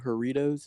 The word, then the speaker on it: Jarritos: Jarritos?